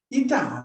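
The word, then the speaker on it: η: Pronunciation ईटा है, ईटा, इस symbol का प्रोनाउंसिएशन ईटा।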